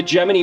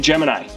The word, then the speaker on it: Gemini: That's actually, NASA had to put out a press release to tell everybody in 1965 how you pronounce their program. Because people were saying Gemini, because that's what most people think of. That's what you get taught in the schools, etc. But NASA was saying Gemini.